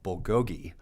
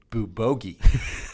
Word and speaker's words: bulgogi: And he brings this food, and he eats a lot of Korean like steak called bulgogi. Right. But he keeps calling it bubogi, and it drives me crazy.